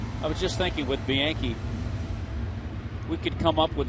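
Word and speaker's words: Bianchi: 85 Milwaukee on top the Brewers have Jeff Bianke yes that's how you pronounce it bianke at third base and John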